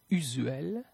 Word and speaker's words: usuel: La lettre S est prononcée comme un Z entre deux voyelles. Asile, asile, usuel, usuel, case, case.